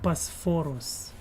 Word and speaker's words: Bosphorus: It's named Bosphorus.